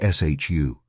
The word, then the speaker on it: SHU: The heart of this system is the security housing unit or SHU, pronounced SHU.